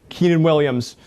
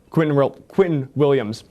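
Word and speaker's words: Quinnen Williams: They went from having an abysmal defense to having the development of Sauce Gardner, the development of Keenan Williams. Just pronounce that. Quentin Williams.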